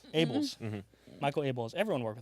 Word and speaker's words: Abels: Abels. Abels.